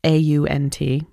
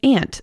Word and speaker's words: aunt: And I understand that people pronounce the word A-U-N-T as ant in a lot of places. Personally, this is the hill I will die on. The ant hill I will die on. No. Okay, wait for it. It's coming. I believe aunt is the more grammatically correct way to pronounce this.